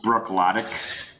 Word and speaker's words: Bruichladdich: I think it's pronounced Bruichladdich.